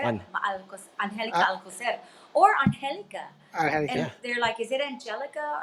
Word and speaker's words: Angelica: people can't pronounce Alcocer, On Angelica Uh, Alcocer, or Angelica. And Angelica. yeah, they're like, is it Angelica or Angelica? It's Angelica.